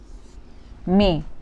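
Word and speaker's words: maïs: Another word may which means corn.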